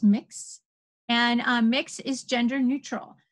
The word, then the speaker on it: Mx: MX is a newer form of address, and it is pronounced mix, and mix is gender neutral.